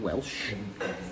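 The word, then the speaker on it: Welsch: unusual because they're rounded they're called Welsh not Welsh like whales but Welsh meaning foreign in German it's thought that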